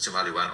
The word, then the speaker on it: Tumaliwan: tumaliwan usually pronounced as tomaliwan or i just tell them the easier way to remember it is remember two million my background is in